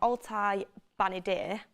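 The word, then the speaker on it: Altay Bayındır: Altay Benadir, Dean Henderson to Crystal Palace will be announced, and you'll probably get the here we go on that.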